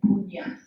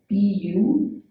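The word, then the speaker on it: puñña: They actually used the Pali version, punya, P-U-N-Y-A, pronounced as P-U-N-Y-A, punya, but spelled as P-U-N-N-A, and with a wavy line on top.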